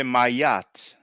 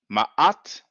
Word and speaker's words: Ma'at: I'm being picky, but it's like Ma'at. You don't need to say Mayat. You can either say Ma'at. If you can, then you would say Ma'at, because we have the Aleph and the Ain, and the Ain is a glottal, has like kind of a glottal stop. It's a glottal A.